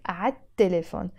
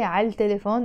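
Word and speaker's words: عالتليفون: add L before them, we don't pronounce the L because the ta is a sun letter. Now, of course, if you say al telephone, it's fine, it's not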